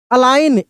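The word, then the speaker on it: align: Resign लेकिन जी का उच्चारण नहीं कर रहे हैं। अलाइन एल आई जी एन अलाइन सी ए एम पी ए आई जी एन कैंपेन क्या पढ़ रहे हैं?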